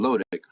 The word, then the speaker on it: lotic: If you get these, good way to remember is that the O in lotic rhymes with flow.